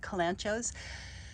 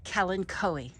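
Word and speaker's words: kalanchoe: Bloom what's interesting about kalanchos the pronunciation of the name is regional in the Western United States it's called Kellen Coe and here in the southeast kalancho but we're talking about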